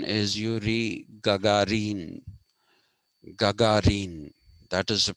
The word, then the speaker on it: Yuri Gagarin: this man called okay the westerners will typically pronounce his name as yuri gagarin that is not the pronunciation the pronunciation is yuri gagarin gagarin that is the pronunciation and that is